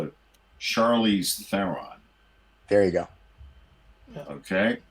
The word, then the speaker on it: Charlize Theron: Her name is pronounced like this. It's Charlize Theron.